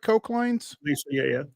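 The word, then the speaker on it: Koclanes: Because the Wings head coach Chris Cochlanes is am I pronouncing that right? Klanaines.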